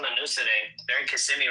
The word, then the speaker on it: Kissimmee: They're in Kissimmee right now.